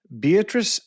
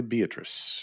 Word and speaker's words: Beatrice: Uh joining me today, Beatatric Gut Connect with Badassory by B. Did I pronounce that correctly? Beatatric, you did.